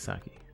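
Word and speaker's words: Psiaki: Mike Saki. I'm assuming the P is silent.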